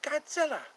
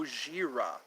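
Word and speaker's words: ゴジラ: hear the song shut up you know Godzilla Godzilla oh no there goes Tokyo go go Godzilla that's our pronunciation of that our pronunciation is Godzilla but in Japanese it's go goira goira it's like um monster whale or something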